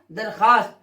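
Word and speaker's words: درخواست: जिसको एप्लीकेशन भी कहते हैं, आवेदन भी कहते हैं, दरख्वास्त लिखा जाएगा मगर पढ़ा नहीं जाएगा। पढ़ा जाएगा क्या? दरखास्त, क्योंकि इसमें वाव मादुला है।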